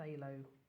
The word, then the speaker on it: phthalo: You might find if you've got a set of paints, there's something very similar called a phthalo, which is spelled phthalo.